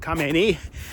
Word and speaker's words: Khamenei: And he said the other day that it would be unacceptable if the son of the Ayatollah, I believe you pronounce it Khamenei, if his if his son if this 86-year-old guy that we killed son becomes the the next supreme leader.